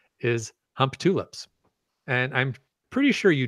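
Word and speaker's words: Humptulips: the town name is hump tulips and I'm pretty sure you don't pronounce it that way but it literally spells hump tulips that's pretty much how I've always heard it pronounced that's the only way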